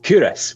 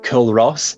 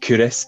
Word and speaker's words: Culross: of the day and today i'm looking at curis which is in fife now curious sometimes gets pronounced as kill ross but it is in fact curis and it's another town in the kingdom of